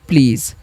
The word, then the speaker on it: please: 'Pl' में, E एक लंबी स्वर ध्वनि बनाता है, और S को 'z' की तरह पढ़ा जाता है, इसलिए यह "please" बन जाता है।